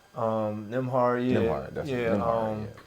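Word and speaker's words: Nembhard: Neymar. You know what I mean? Say his name right. Nimhard, yeah.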